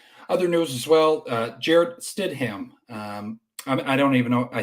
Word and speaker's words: Stidham: Jared Stidham. I don't even know. I think I'm pronouncing his name right. It's Stidham. Name. It's all like one word blended. Yeah. It's not Stidham. Stidham.